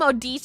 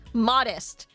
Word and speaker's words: Modise: Like how people say modist like I don't think modise is hard right like modise is hard they end up saying it modest what do you mean